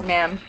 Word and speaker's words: ma'am: to say Madam because when we pronounce it we just dropped the D oh Ma'am yes almost like Mom yeah you don't say